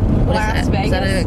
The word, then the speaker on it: Las Vegas: That's loss, not last. Las Vegas? No one says it like Las Vegas.